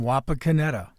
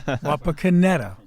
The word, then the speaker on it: Wapakoneta: Oh, man, I didn't know how to pronounce any of them. Yeah, it was, Neil Armstrong was from Wapakoneta. Wapakoneta? Wapakoneta.